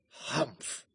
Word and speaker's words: humph: Humph, said the sand fairy. If you read this story aloud, please pronounce humph exactly as it is spelt, for that is how he said it.